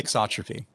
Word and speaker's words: thixotropy: Thixotropy.